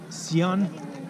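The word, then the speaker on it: Xi'an: to the next destination that is Sian it's written X i a n and pronounced I will I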